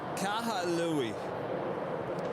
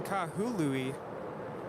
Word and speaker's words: Kahului: kaha louie well there's no a there now i'm reading kahului which makes a little more sense to me it's not kahalui i actually did some